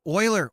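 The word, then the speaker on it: Euler: interfaces considering using get uler method which return you angles. Um, oiler oiler oiler angles. Sorry guys, I'm gonna keep doing that. Oiler. They should just spell it Oiler.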